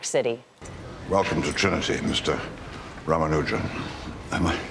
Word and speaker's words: Ramanujan: in New York City Welcome to Trinity Mr ramanujan am I pronouncing that properly yes sir perffect as mentor